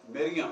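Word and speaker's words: مريم: अब मैरी जो है, याद रखें कि ये बाद में हुआ है मैरी, असल जो प्रोनाउंसिएशन है वो मरियम है, कि जो अरबी में आके मरियम हो गया।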